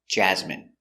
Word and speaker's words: jasmine: Jasmine. Pronunciation. Jasmine. J. A. J. Z. Jazz. Jazz. M. Jasmine. I Jasmine. Jasmine. Jasmine. Jasmine. Stress. The first syllable.